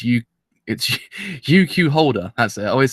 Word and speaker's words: UQ Holder: Alright, so I have returned once again today to actually watch what I always say it wrong. It's UQ Holder. That's it. I always say YQ Holder for some fan reason.